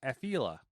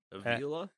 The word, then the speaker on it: Afeela: I'm going to go with Afeela. Like Ophelia? Like the name? The old Afeela. Victorian? Afeela. Avila? Alex Avila? It's Afeela.